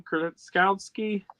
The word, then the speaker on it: Krasinski: Krasinski?